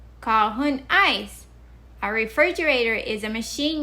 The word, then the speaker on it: Kåhon Ais: Kahun ice. Kahun ice.